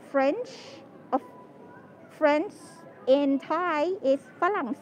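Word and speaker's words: ฝรั่ง: And French, French in Thai is phalang said. So we just like use the word, the first syllable phalang, to call foreigners or white people in general.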